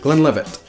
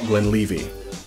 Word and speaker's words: Glenlivet: Glenlivet or the Glenlivet. As long as it's not Glenlivet, that would make it French.